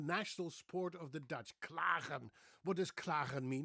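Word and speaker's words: klagen: words and names the way a Dutchman would pronounce them, namely me. The word I'd like to talk about today is claren. It's the national sport of the Dutch claren.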